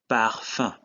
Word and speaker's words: parfum: Another example is parfum, which is perfume. In this case, UM is pronounced un.